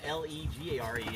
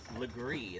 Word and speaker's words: Legare: And then Legare is Legree instead of Legare.